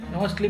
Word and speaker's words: musth: Must is a Sanskrit word for intoxicated and mostly pronounced as most. However, it has been translated into English as must.